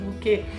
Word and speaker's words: bouquet: And yes, that's how it's spelled, but it's not pronounced bouquet, it's pronounced bouquet.